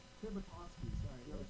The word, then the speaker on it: Tibitosky: And I have Phil Tibitosky, is that how I say it, Phil? Tibitosky. Tibitosky, sorry, I never said it out loud before.